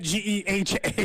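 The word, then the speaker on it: GEHA: Well, because last week he was calling it Geehaw. Yeah, he kept saying it wrong a couple times in the last week, so he got it right that time when it mattered most.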